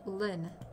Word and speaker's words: Lynne: is Lynn she's called Lynn either pronounce the same just spelled differently she's me but me